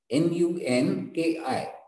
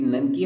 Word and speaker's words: Nunki: Spelling of Nunki is N-U-N-K-I. N-U-N-K-I. It is Nanki or Nunki, you can pronounce.